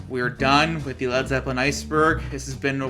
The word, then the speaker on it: Led Zeppelin: printed out shirts saying red zeputin due to japanese dj pronouncing the name as such on stage and on the radio alright with all that we are done with the led zeppelin iceberg this has been